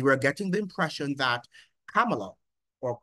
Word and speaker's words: Kamala: getting the impression that Kamala or comma as she desires to be called because she says her name is pronounced as comma really that K as